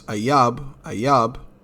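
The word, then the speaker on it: אויב: That word is ayab, which is, and that's the ancient Hebrew pronunciation, which means enemy, foes, enemy, personal, national.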